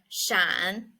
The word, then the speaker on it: 闪: next word we are going to learn is Shan it means that one if the meaning is